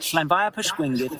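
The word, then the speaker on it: Llanfairpwllgwyngyll: Llanfair Pwllgwyngyll, Llangeres Candrobas, Llantysilio, go go go.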